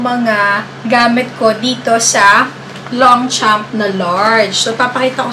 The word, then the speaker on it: Longchamp: Silent G dapat. Yung pronunciation talaga ng Longchamp. Ganon. Kaso, nasanay tayo na Longchamp. Talagang may diin sa Longchamp.